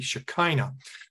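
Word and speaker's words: Shekinah: seen before until Len and phonetically in English it would be shakina so the Blessed Mother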